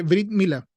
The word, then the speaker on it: Brit Mila: El Brit Mila, se dice Brit Mila, o el Bris, si lo pronuncian en Yiddish, que es el idioma judío alemán.